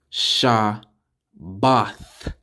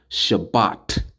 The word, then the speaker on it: Shabbat: all together you got Shah both Shah both with a th at the end not just a t sha bath that's how you say Sabbath in the Hebrew it's not Shabbat it's not Shabbat it's